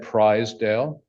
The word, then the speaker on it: Pryzdial: My name is Prizedale. This is how mama taught me to spell it. This is how mama taught me to say it. Prize, Dale.